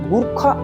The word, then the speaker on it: गोरखा: बोला जाता था, लेकिन भारत ने इसमें रॉयल को हटा दिया और गुरखा में यू की जगह ओ कर दिया, जिसे इसकी सही प्रोनाउंसिएशन माना जाता है। और इसकी प्रोनाउंसिएशन अब क्या हो गई, गुरखा की जगह गोरखा हो गई।